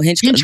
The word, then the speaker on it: Hinchcliffe: I feel like we are very polarized in this country and if you have these comedians Tony Hinchcliffe how do you say his name? Oh Hinchcliffe Hinchcliffe Hinchcliffe I remember him from the Trump rally.